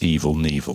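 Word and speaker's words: Evel Knievel: I think you'll find it's evil nil silent k yeah people think we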